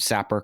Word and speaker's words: Sapper: your name is jeff winters i'm assuming i pronounced sapper correctly you did perfect great uh what does